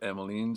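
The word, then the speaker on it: Emmeline: Do you say Emoline? Everywhere I hear it, I hear it. Emoline. But if I were to pronounce that by looking at it, I'd say Emiline. I think that's how I would pronounce it. And every I didn't know any emlines. I knew Emlines. Uh but everyone here pronounces it Emiline.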